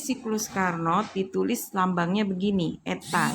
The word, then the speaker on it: eta: Eta, ini bacanya eta, sama dengan 1 min T2 per T1 dikali 100%.